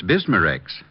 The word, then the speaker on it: Bismarex: Is that how you say it? That's right, ma'am. B I S M A R E X.